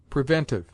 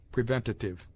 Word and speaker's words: preventive: Preventive. A useless and unwarranted syllable is sometimes added to this word preventative.